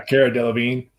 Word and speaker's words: Cara Delevingne: She actually bet on Cara Delevingne. Is that how you say it? Yeah, Cara Delevingne.